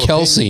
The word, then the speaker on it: Kelce: this my opinion is it's pronounced Kelsey not not Kel it's Kel Kel that's